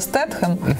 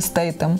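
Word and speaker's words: Statham: Це як стетхем, знаєш, все казали стетхем, а він насправді стейтем.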